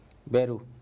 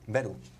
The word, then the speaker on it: Veru: Beru. Beru.